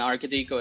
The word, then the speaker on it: Arkadiko: they are they're like how do i pronounce is it arcadico or arcadico and architico is in fact correct so you had it